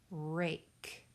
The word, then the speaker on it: rake: R-A-K, rake. Please fill in the missing letters. R-A-K. Silent E that makes that long vowel A.